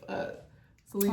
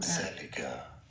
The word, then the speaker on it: Zellige: It's from Zellige. Zellige. Zellige. Zellige. A type of mosaic. Zellige. Zellige. Zellige. Okay, so we're all pronouncing it wrong.